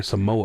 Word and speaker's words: Samoa: it's just pronounced how you spell it. It's just that the Western accent just add like a W in there, Samoa.